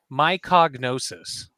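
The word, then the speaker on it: Mycognosis: My cognosis. Bless you. How do you spell that?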